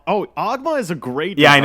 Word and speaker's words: Ogma: Even Tiki, Oguma. Oguma, is that what he's called? Oh, Ogma is a great design. I know. Fuck. I was calling him like they pronounced it in the anime dub.